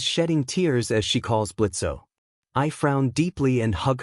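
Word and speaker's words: Blitzø: He that sounds like Blitzo. The imp says the O is silent, but Blitz growls out, "He, I knew it was you, man.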